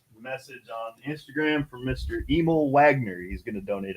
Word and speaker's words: Emil: How you pronounce his first name? Emil? Huh? What do you say? E-M-I-L. Emil. Okay, I want to make sure I say it right.